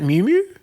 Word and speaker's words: Miu Miu: outfit by, now, how do you say it, Miu Miu? Miu Miu, yeah.